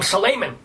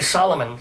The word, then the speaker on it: Solomon: And also, I mispronounced what most people would pronounce my name, Suleiman, but I say Solomon, sort of the way he does Colbert.